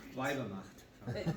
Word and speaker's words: Weibermacht: by asking a bunch of people how to pronounce. Weibermacht? Mary? There we go. Oh, yes, ma'am. All together. Macht. Weibermacht.